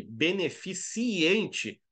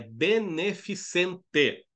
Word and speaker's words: beneficente: então não se engane beneficiente não existe tá na Norma padrão é beneficente Tá tira aquele I Maroto ali do meio e diarreia